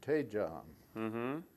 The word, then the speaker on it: Daejeon: From Busan, I went by train to Daejeon. Is that the way you pronounce that?